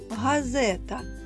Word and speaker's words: газета: горох знову наголос на звук о наступне слово газета давайте покличемо газета так наголос на звук е горобець покличемо горобець знову